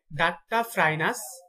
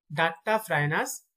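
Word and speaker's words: Duttaphrynus: কুনু ব্যাঙের বৈজ্ঞানিক নাম হচ্ছে ডাট্টা, DUTTA, ডাট্টা ফ্রাইনাস, ডাট্টা ফ্রাইনাস মেলানোস টিকটাস, ডাট্টা ফ্রাইনাস মেলানোস টিকটাস।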